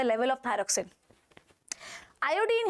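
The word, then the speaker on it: thyroxine: होता है thyrocin regulates थायरा scene नहीं है एक्चुअली थायरोक्सिन है इट इस अन थायरोक्सिन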